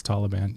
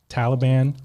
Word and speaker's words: Taliban: about how you pronounce Taliban is it Taliban is how Americans say it but apparently the correct way is Taliban Brandon from our our team corrected us this morning but is that